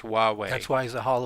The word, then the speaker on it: Huawei: One clarification, it's Huawei. Huawei, all right. Thank you, Craig. Yeah, it starts with an H, but it's pronounced Huawei.